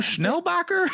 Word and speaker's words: Schnellbacher: before we started recording how do you say your name schnellbacher you said it right yeah schneider oh